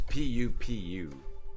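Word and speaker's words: pupu: It's pu pu platter. Not poop, not poo poo like p o. It's They spell it pu pu. I think it's like an Americanized Chinese food thing. It's not poo poo. It's not poo poo like from your butt.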